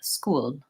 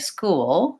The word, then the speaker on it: school: I'll just answer quickly if I said school with a light L it would sound like school school I would be going right from the to the O the front L but I actually saved school school and you can hear how I'm using a dark L in that word